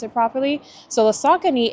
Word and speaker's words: Saucony: He kind of showed us how to pronounce it properly. So the Saucony, it's pretty good.